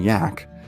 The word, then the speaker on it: Jack: begrudgingly respectful nicknames of Captain Jack pronounced Captain yak and Bravo too much